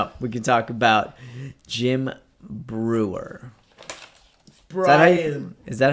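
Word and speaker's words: Breuer: We can talk about Jim Brewer. Brian. Is that how you pronounce his name? Yeah, Brewer.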